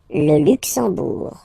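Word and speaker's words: Luxembourg: You don't pronounce the M at all. It's this nazal. Okay. Luxur. Luxbour.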